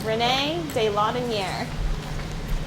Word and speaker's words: René de Laudonnière: So he's René de Laudonnière.